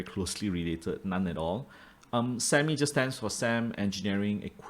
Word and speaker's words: SAMI: I know it rhymes with Mami, but I don't think they're very closely related, none at all. SAMI just stands for SAM Engineering and Equipment Malaysia Berhad.